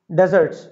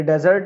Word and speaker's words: desert: तो प्लेटोस और डेजर्ट ये डेजर्ट है डिजर्ट नहीं डिजर्ट होता है मीठा D double SE आर टी डेजर्ट मिठाई मिठाई केक डिजर्ट कहलाते है यह डेजर्ट है